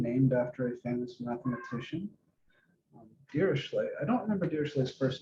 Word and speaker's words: Dirichlet: Dirichlet. I don't remember Dirichlet's first name. Some people call him Dirichlet, Dirichllet, Dirichlet. If you think of him as a Frenchman, you pronounce it Dirichlet.